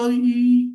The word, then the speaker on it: 鱼: Masa kita bacanya i nggak bisa. Ya, nggak bisa kita bilang 我想吃鱼, nggak bisa. Memang 我想吃鱼, ya memang harus dimajukan, gitu.